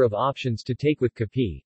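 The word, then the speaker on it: kape: options to take with Cappy which is the Filipino pronunciation of cafe coffee breads and pastries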